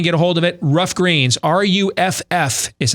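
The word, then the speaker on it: Ruff Greens: Rough Greens, RUFF is how it's spelled.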